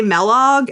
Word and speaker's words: Melog: and they always say Melog, and I have to correct them, even though I think it's pretty obvious that it should be a hard E. Like Kellogg.